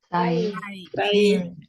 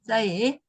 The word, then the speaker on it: 싸이: 사이. 네, 싸이. 좀 세게 발음해서 싸이죠.